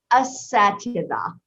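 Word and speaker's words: أساتذة: Do you know how to pronounce it? Ustada? Asatida.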